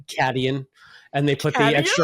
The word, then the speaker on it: Caitian: It's Caitian, which I want to say is Acadian, but they probably pronounce it Cadian.